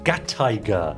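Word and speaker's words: Gattaiger: predator great wondering uh put gatai together with tiger and you get gat tiger with emphasis on the Thai I got tiger that's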